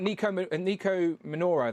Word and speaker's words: Nico Minoru: We got Nico Minoru.